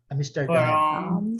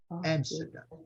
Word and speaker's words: Amsterdam: Amsterdam. Amsterdam. Amsterdam. Amsterdam. Amsterdam. Amsterdam. Aqui ficou claro, gente, olha, muito claro. O inglês britânico, ele acentua a palavra aqui, tá?